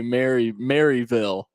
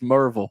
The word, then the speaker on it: Maryville: I've never, the funniest thing about Maryville is that I've never heard anyone say Maryville. It's always Merville.